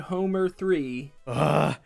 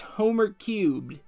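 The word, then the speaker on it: Homer³: hello it's jadex again here to talk about homer 3 damage shade it's homer cube not homer 3 you messed up now the simpsons fanbase is mad at you sorry guys i forgot it's pronounced homer cubed i won't make this mistake again to explain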